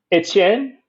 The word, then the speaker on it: Etienne: Etienne. Did I say that right? Etienne. Yeah, let's do it. This is the all pronunciation squad.